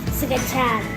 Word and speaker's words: scacciata: Scacciata. Say it like real Italian, like Scacciata.